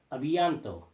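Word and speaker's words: à bientôt: Abianto. Last T is silent.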